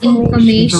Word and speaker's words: information: please repeat information information it was elongated stretch it a has to be prolonged said it louder emphasize stress on it means you have to prolong it also information give it